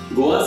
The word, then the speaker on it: Goa: The Portuguese named this region as Goa, rhyming with the Portuguese capital Lisboa. Goa served as a maritime trading port to a number of kingdoms before the Portuguese.